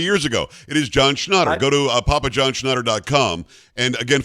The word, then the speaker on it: Schnatter: Is it Schnatter? Schnatter, like schnapps. Well, now I feel like an idiot. You should have told me. Should have told me that 3 years ago. It is John Schnatter.